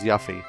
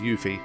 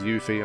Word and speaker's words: Yuffie: I don't know but when I see the double F I want to pronounce it like I pronounce the word gruff for example but apparently it's pronounced you feet so I'm gonna pronounce yuffie as you fear I'm gonna try my